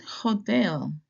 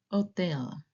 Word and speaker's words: hotel: This letter is silent in Spanish.